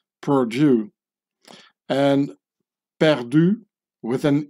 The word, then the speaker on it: Purdue: youth killer company is Purdue which sounds exactly as the French Perdue when pronounced by in English speaking person Purdue and Perdue with an